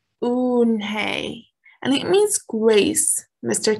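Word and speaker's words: Unhei: then turned joey she nodded slowly yes it's pronounced unhay and it means grace mr kim added said slowly and this time perfectly it meant unhigh smile i'll have it ready for you tomorrow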